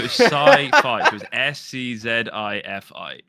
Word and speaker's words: SCZI: It's SCZI. So it used to be sci-fi with a Z thrown in because I played Call of Duty, right?